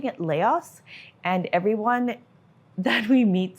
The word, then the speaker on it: Laos: local accent, but yeah, still confused about the pronunciation of the name of the country because Laos or Lao, not sure. So we're gonna go ahead and pronounce it Lao from here on in because we have traveled here and now we can correct everybody and be like, it's actually Lao.